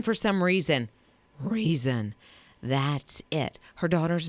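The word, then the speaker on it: Reezon: that name for some reason reason that's it her daughter's name is reason but it's r-e-e-z-o-n but it is pronounced just like reason for some reason yeah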